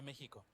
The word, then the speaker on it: México: Okay, so X is closer to an H for Mexico and a Oaxaca.